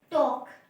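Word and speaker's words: talk: टॉक, टी है, पहले सिर्फ ना स्ट्रोक्स डालनी है। एल जो हमारा साइलेंट है तो एल हम नहीं लिखेंगे। टी और के, पहला वोवल क्या है, ए, पर साउंड किसकी आ रही है, ओ की आ रही है।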